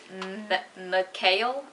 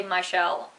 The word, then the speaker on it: MyChelle: by the brand well technically it's pronounced Mel I think but I say Michelle or Michelle because it's the way it's spelled I don't know it